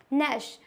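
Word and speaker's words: gnash: क्या पढ़ते हैं एकेडमिक नश अब ये नश क्या होता है यहां पे जी भी है बट जी का कोई भी यूज नहीं है इसको ओनली नश पढ़ते हैं नश मींस होता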